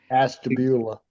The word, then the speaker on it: Ashtabula: Ashtabula.